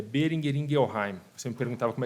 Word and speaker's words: Boehringer Ingelheim: E falando um pouquinho sobre o nome, é Boehringer Ingelheim. Você me perguntava como é que pronuncia.